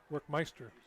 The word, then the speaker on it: Workmeister: Because Workmeister is the correct pronunciation.